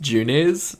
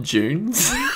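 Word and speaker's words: Junes: hard to get but it's uh pronounced junis not june's the song she sings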